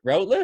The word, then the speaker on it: Routliffe: Starting on the Athletes Podcast with Erin Routliffe.